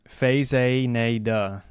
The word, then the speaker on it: Faxanadu: How to pronounce. It's easy. Faxanadu.